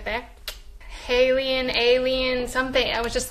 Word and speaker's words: HALIENE: And so I switched two of the vowels and made it into Halien. And I just loved that it rhymes with alien. Shout out to my aliens right there. Halien, alien, something.